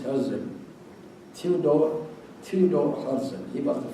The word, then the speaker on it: Herzl: In Arabic they pronounce T as well, Herzl, but it is Herzl.